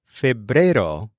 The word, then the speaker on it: febrero: But then February is febrero, rhyming with enero.